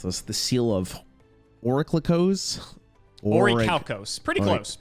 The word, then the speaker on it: Orichalcos: Oh my God, how the hell did you pronounce this? The seal of Orichalcos? Orichalcos.